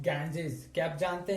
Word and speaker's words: Ganges: For example, take the word Ganges. Ganges, actually it is pronounced Ganges.